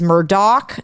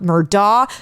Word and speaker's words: Murdaugh: to mispronounce their names it is Murdoch not murdah the father's name is